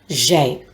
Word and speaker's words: j'ai: That's why it is J apostrophe and we say it or pronounce it as j'ai.